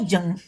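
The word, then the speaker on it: Jung: जैसे कि psycho analytic theory of Freud, है ना, साइकोलॉजिकल टाइप्स ऑफ जंग, जुंग भी कह सकते हैं, जंग भी कह सकते हैं, तो जैसा जिसका प्रोनाउंसिएशन होगा उसी तरह से करेगा।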